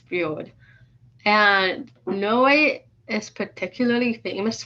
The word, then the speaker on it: fjord: It looks like fjord, but it's pronounced fjord.